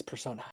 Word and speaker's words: Personae: So now we're going to go ahead and dive into Dramatis Personae. I said persona last week and I realized I said it wrong.